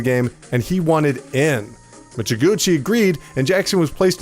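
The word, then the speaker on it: Mizuguchi: Michiguchi, there you go, that's how you say his name, felt confident in the genre's blend would attract a wider audience.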